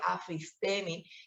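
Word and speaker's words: ἀφίστημι: Viene de un término griego que se escribe afistemi o que se pronuncia afistemi, que significa abandonar algo que una vez se abrazó, abandonar algo en lo que una vez se creyó.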